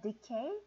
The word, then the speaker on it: decay: 하나는 decay 그리고 and death. 자, 여기 발음이요. decay. 이음절에 강세가 들어가죠. decay.